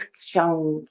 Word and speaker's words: kshang: The seed syllable is Kshang, K-S-H-A-N-G.